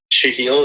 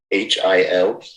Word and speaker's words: Shahil: How do you say your assistant's name? His first name? Yeah. Shahil. It's Shahil. Yeah, I got the Patel part down pretty pat, I think.